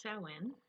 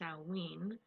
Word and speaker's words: Samhain: pagan community it's pronounced so in and sometimes salween and before you think i'm pronouncing it wrong it's gaelic and like any other gaelic word it sounds nothing like what it's spelled as we had mentioned in